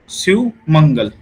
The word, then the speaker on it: Shew Mangal: इसकी जो प्रोनाउंसिएशन है वो क्या है, सुमंगल। क्लियर, एक तो याद हो जाएगा, पूरे जजमेंट पढ़ेंगे याद हो जाएगा।